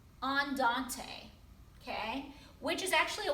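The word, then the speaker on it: andante: a medium tempo in music is often called on dante on dante okay which is actually a walking speed it's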